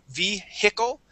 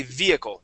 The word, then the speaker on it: vehicle: So, class, we would not say vehicle. We would say vehicle, just like Igor had said.